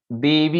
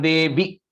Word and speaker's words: देवी: Radha Garu, the first line, Devi, you said a long E, right? Jayatvam Devi Cham, so you have to cut it short.